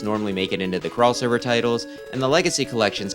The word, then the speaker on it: Xover: And yes, I know it's supposed to be crossover, not Xover, but that's how it's spelled, that's how I'm saying it.